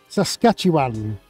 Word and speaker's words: Saskatchewan: Saskatchewan, have I said it right?